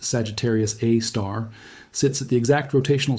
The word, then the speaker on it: Sagittarius A*: Sagittarius AI, pronounced Sagittarius A star, sits at the exact